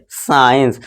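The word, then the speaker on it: science: हमारे यहाँ सी है, तो क्या होगा, सी साइलेंट हो जाएगा, ठीक है दोस्तों। ई और आई से पहले और एस के बाद हो तो वहाँ पे हमारा क्या होगा, सी साइलेंट हो जाएगा, ठीक है दोस्तों। अब इसे हम क्या पढ़ेंगे, साइंस। समझ लीजिए ये एस है और ये सी अब भूल जाइए, तो ये क्या बना, साइंस, यानी कि विज्ञान, ठीक है दोस्तों।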